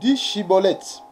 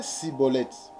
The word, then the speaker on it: Schibboleth: Il lui disait alors: eh bien, dis Shiboleth. Et il disait Siboleth, car il ne pouvait pas bien prononcer, sur quoi les hommes